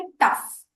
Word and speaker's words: tough: अब TOUGH, इसमें GH बन जाता है फ, टफ। टफ हो गया, कॉफ हो गया, कॉफ में भी COUGH आता है पर वो GH बोलते वक्त हम फ बोलते हैं।